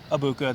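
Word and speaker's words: Egbuka: abuka yes it is abuka the g is silent i asked someone um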